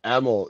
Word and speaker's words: Emil: first name perfectly uh EML it's like Emily without the Y EML got it yeah